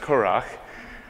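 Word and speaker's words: currach: So now knowing that information and knowing that it's pronounced Curach, let's begin.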